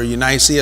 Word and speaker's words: Eunice: grandmother and his mother Eunice or unicee as they pronounce the back of that day and Lois but he